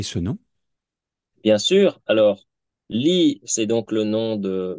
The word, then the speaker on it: Ly: nous avons un nom de famille vietnamien, L-Y, qui est aux États-Unis souvent mal prononcé, puisque aux États-Unis, quand on voit la combinaison de lettres L-Y, beaucoup Mhm. d'Américains vont dire lie.